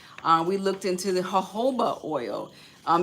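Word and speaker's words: jojoba: Um, we looked into the Hoba oil. Um, the word looks like jajoba oil, I know, but we pronounce it hoba oil.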